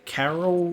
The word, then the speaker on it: Caryll: Caryll, we still haven't got that pronunciation right. Caryll sounds just like a white woman's name.